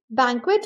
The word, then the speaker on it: banquet: भी आप नोटिस करेंगे बैंक्वेट को एज बैन और क्वेट प्रोनाउंस किया गया है जहां पर वर्ड को टू सिलेबल्स में डिवाइड किया है फिर उसको प्रोनाउंस किया गया है बैंक्वेट बैंक्वेट the third example